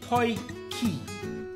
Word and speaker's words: potjie: a POI what yes a PO key po key as in boy and car key so instead of the B you put a p and you get to PO key simple pronunciation we are going